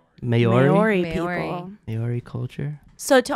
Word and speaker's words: Maori: It's a ceremonial dance or challenge in the, I can't pronounce this word, but it's an Australian culture. Okay, Nate's people. M-A-O-R-I. Maori.